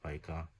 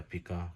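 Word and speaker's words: pica: इसका, ठीक है ना, जिसको कहते हैं पाइका या पिका, जो आपने प्रोनाउंस करना है, ठीक है। मेन बात ये है कि सिर्फ इसको आपने याद रखना है, पीका।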